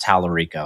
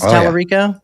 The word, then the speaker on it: Talarico: But James, I think his last name is pronounced Talarico. I don't know, and I honestly do not care if I'm pronouncing that right.